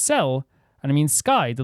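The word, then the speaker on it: Céu: Her name is pronounced Cel, and it means sky.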